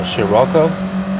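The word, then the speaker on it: Scirocco: right here this uh i believe the way to pronounce the name of that volkswagen is uh shiroko i could be wrong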